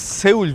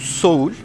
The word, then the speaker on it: Seoul: Bu arada biz Seul diyoruz. Doğrusu Seul değil aslında. Şöyle ki Güney Koreliler buraya Seoul diyor. Yani Seoul diye zaten yazılıyor. Onların telaffuzu Seoul. Hatta bazen böyle özellikle diğer şehirlerde Seul dediğim zaman ilk başta bir anlamadıkları dahi oldu. O yüzden Seoul dememiz gerekiyor.